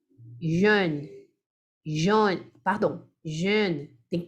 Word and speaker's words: jeune: Então, esse aqui é um pouquinho mais aberto. É assim, ó. Jeune. Ó minha boca, ó. Jeune. Jeune.